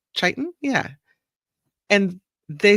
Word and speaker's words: chiton: This guy is called a chiton. Is that how you say it? I think it's chiton.